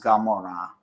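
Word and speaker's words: Gomorrah: sound like G so that's why Amora is Gamora but um so Sodom and gamor um K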